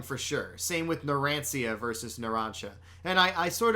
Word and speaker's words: Narancia: I was calling him Narancia for sure. Narancia. Yeah? Now he's Narancha.